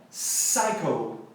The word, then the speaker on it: psycho: Eu tenho que tirar o P da pronúncia. Então é psycho, psycho.